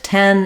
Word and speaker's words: ten: would say that's the only um Danger with 10 is kind of getting that vowel correct and being solid in it you might want to